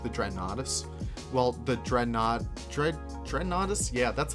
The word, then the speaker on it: Dreadnoughtus: Well, the Dreadnoughtus? Yeah, that's how you pronounce it.